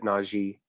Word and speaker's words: Najee: He pronounces it Najee.